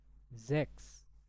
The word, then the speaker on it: sechs: Sechs. Sechs. Oke, jadi kalau bahasa Jerman itu biasanya huruf S itu dibaca seperti huruf Z. Jadi sechs.